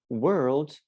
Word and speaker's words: world: is the difference look you can try to to pronounce this this way were owed were owed were odes and when you put them together it becomes worlds so that sounds world